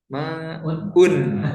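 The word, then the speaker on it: ماءٌ: Al-ma'u itu kalau alif lamnya dihilangkan dibacanya gimana? Ma'un. Ya, jadi kalau alif lam hilang, tanwinnya muncul. Jadi hanya salah satu di antara dua itu saja, gitu ya.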